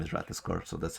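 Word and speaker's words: Ratatoskr: a very fun streamer that her name is Ratascore, so that's how I know how to say the name well.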